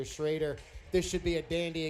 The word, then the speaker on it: Schroeder: in the house tonight some people say Webster schroer I've been told the correct pronunciation Webster shraer this should be a